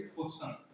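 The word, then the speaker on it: question: टी आई ओ एन हो तो टी का उच्चारण च होता है, ठीक है। एग्जाम्पल देखो, जैसे क्वेश्चन क्या होता है।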